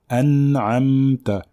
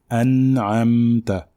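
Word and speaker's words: أنعمت: Donc elles portent sukun. Donc on dit an'amta, an'amta.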